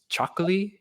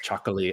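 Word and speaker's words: Txakoli: they're nice stuff um I think it's pronounced chocol I'm probably saying it wrong I just remember that like it sounds like they're saying chocolate but it's like a TX is like the how it starts but um it's like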